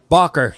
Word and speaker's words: Bachar: Bachar.